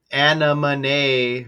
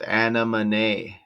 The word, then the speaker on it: Anemone: Okay, so anamony Ronin. Okay, that doesn't really hit like I thought it originally did. Uh, I looked at the pronunci pronunciation of anaman and that's how it says it's pronounced anaman.